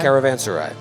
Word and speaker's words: caravanserai: times caravan sorry sarah caravan sarai caravan sarai yep i looked it up i've been pronouncing it wrong for a long time caravan sarai seven wonders bro well